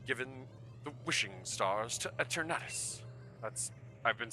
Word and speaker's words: Eternatus: That's why we've been given the wishing stars to Eternatus.